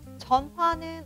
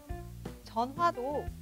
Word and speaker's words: 전화: 이렇게 말해도 됩니다 그럼 전화는 어떻게 읽을까요 전화도 전화 전화 모두 괜찮아요 받침 히읗 흐 소리가 모음 앞에 오면 발음을 안 해도 괜찮아요 따라하세요 싫어요 놓아요 나았어요